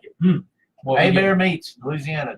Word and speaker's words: Hebert: A-Bear Meats, Louisiana. Just get online, type in A-Bear, and that's spelled Herbert, Hebert, meats and specialties.